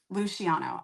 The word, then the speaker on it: Luciano: It's kind of well, and it's Italian. Um so, I had to think about it for a minute how I know how I pronounce it cuz it could be multiple, but it's uh Luciano.